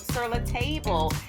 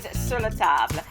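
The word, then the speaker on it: Sur La Table: cookware set, the name of it is not Sir Table. The correct pronunciation is siratab.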